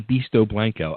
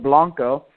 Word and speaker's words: Beasto Blanco: be that it's beasto Blanco some people say blanco but it's pronounced Blanco like the last name it's very simple I